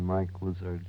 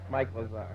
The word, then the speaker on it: Mike Lazar: always listen to the mike lizard show except that you said the name wrong if you like trying it again sir mike lazar oh that's what you